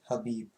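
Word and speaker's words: Khabib: it it says kabhi but apparently you pronounce it with without the k that's what mike said so it's so you say habib this is what ufc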